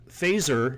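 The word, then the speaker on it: Feser: me set it up phaser and that by the way is the correct name correct way to say his last name wasn't specifically referring to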